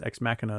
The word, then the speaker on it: Ex Machina: in the pan okay ex machina uh project asking about the movie or x machina thinks x machina is the correct way of pronouncing that yes very good